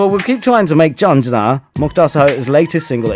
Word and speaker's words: Jhanjran: British Asian music director, and his latest release is called Jhanjran, to pronounce it correctly, spelled Jhanjran, Jhanjran.